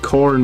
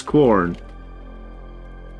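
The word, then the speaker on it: Quorn: make like pasta or something and put like corn mints in it because we actually eat quite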